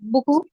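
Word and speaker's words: beaucoup: lot or manyi okay is it buku yeah buku be silent at the end okay okay now again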